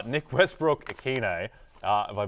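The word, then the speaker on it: Westbrook-Ikhine: season for your Lakers yeah that's right Nick Westbrook Aquino uh have I butchered that no that's great well done yeah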